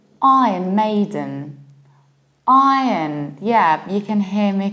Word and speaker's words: Iron: We open our mouth very much, R, then we have yacht, then there is no R, and we reduce the ending.